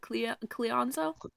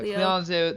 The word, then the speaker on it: Cleonzo: And then she's going to message in uh Cle how do you pronounce it? Cleanszo. Cle my friends call me Cleo for sure. No, Cleonzo the ungrounded is She's gonna message in Cleo's head and say, "Nightmare, nightmare, nightmare."